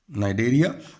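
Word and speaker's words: Cnidaria: Yes, example है इसका नाइडेरिया। और देखिए सी साइलेंट है और यहाँ CTENOPHORA, टीनोफोरा सी साइलेंट है।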